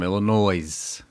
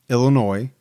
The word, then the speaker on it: Illinois: said they were from Illinois. Mhm. And I think in parentheses it said something about tell Gibby it's there's no, you know, the S is silent or I forget, but I get a kick out of it.